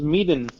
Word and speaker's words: Medan: What the fuck cares how it's pronounced? It's Medan.